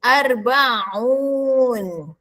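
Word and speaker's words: أربعون: Empat dalam bahasa Arab ialah arbaah. Nak jadikan 40 kena gabungkan dengan sebutan un. dengan syarat buang sebutan ah. Buang tak marbutah dan baris atas pada huruf ain. Maka tinggallah bunyi arba a gabungkan dengan un. Arbaun. Jangan pula sebut arbaun. Salah yang gabungkan. Arbaun 40.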